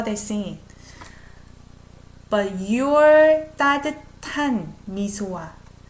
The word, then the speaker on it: 따뜻한: But your 따뜻한 미소와. I pronounce it as if it's T. S and H together sounds like T. 따뜻한 미소와.